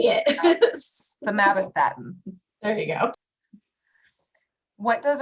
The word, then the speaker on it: somatostatin: Somatostatin.